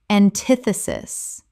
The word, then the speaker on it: antithesis: irrevocable irrevocable Word 259 antithesis Common mispronunciation antithesis Correct pronunciation antithesis Four syllables with the stress on the second.